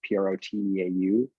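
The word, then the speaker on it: Proteau: it's uh yeah it's it's proto is spelled it's like prototype that's how it's how you say it but it's proteu okay um basically sounds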